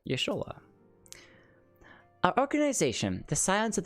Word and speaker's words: Y'shtola: Y'shtola. That's right, that's how you say it. Y'shtola.